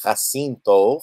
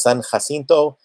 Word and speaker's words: San Jacinto: Jay AC I nto so if you might look at it and look at C it seems to be pronounced Jacinto but it is son Jacinto and their battle cry